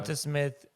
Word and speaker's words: DeVonta Smith: And Which you like I went like pronounced his name correctly, by the way. Devonta Smith, Christian Watson, 4th, 5th.